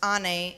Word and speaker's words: Anne: My name, Anne, pronounced Anne, is the Turkish word for mother.